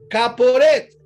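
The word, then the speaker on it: כפורת: Y esa palabra propiciatorio en hebreo allá en el Antiguo Testamento se escribía, perdón, se se pronuncia caporet y caporet con K y con th final.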